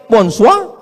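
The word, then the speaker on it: bonsoir: Bon soir, bonsoa.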